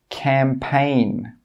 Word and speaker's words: campaign: When we have a G and it's before an N, the G sound is normally not pronounced. Some common examples are design, sign, foreign, Nash, campaign. In all of these words, we're not pronouncing that G sound.